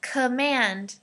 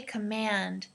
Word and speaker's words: command: a okay and then command command so the second syllable man is emphasized okay command command all right listen